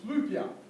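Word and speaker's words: Flyvbjerg: m Donald anyone know this guy anyone can pronounce his name it's FIA yeah not looks like fber FIA flying mountain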